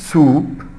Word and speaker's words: soup: soup. soup يعني شوربة. ولاحظ هنا نفس الصوت الـ OU. الـ OU اللي بتنطق U. group and soup.